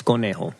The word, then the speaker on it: conejo: It's conejo. It's a rabbit. Conejo. Conejo. And actually, for people that don't know, the J in Spanish is pronounced like a H. So, Like Jose.